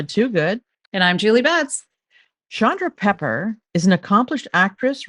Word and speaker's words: Chandra: um, really, it's technically, I believe, Indian and pronounced Chandra. Oh, And yeah, but my mom didn't like that, and she wanted it to be Chandra.